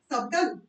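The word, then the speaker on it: subtle: नहीं डाला था colonel colonel next we have सटन सन sun because the बी is silent B क्या है उसमें साइलेंट नेक्स्ट वी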